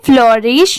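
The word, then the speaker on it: flourish: flow रिश ठीक है यहां पर रिस की साउंड नहीं आएगी रिश की आएगी वो श वाला साउंड आएगा तो इसे क्या पढ़ेंगे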